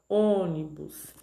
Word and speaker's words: ônibus: No caso da palavra ônibus, o acento circunflexo no O indica que ela, né, que essa palavra, que essa sílaba forma a sílaba tônica, ou seja, a sílaba mais forte, e que a vogal deve ser pronunciada com som fechado, ônibus, tá?